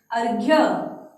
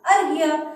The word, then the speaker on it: अर्घ्य: अर्घ्य। क्या शब्द बना? अर्घ्य। और बच्चों जो र है, र का उच्चारण तो इधर ही हो रहा है, देखो बोल के अर्घ्य, है ना?